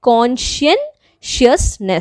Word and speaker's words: conscientiousness: Make sure to write the spelling of consciousness properly, because इसका जो pronunciation है वो ऐसा है conscientiousness.